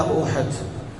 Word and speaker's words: احد: ایک مشہور پہاڑ ہے، اصل اس کا تلفظ احد ہے، لیکن اردو میں ہمارے یہاں بولا جاتا احد بولا جاتا، تو یہ مدینہ منورہ